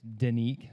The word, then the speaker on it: Denik: ceo and founder of danique uh spelled d-e-n-i-k but pronounced danique and i'm sure we're